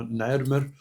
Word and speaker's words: نعرمر: قالوا دي سمكه القرموط وده تنطق نعر وده الازميل بينطق مر ويبقى اسمه نعرمر هل القرمط ده كان ده